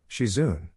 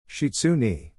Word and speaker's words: Shizune: You're all right, Shizune. Shitsune. Really? Percy asked Talia, you mispronounce her name?